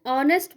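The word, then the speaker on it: honest: ठीक है, जैसे example, for example an ऑनेस्ट बॉय. अब यहाँ देखो, ऑनेस्ट किससे स्टार्ट हो रहा है, एच से स्टार्ट हो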